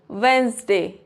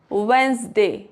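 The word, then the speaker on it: Wednesday: For example वेडनेसडे तो यहां पे जो ये डी है इसको प्रोनाउंस नहीं करेंगे। वेडनेसडे handsome sandwich.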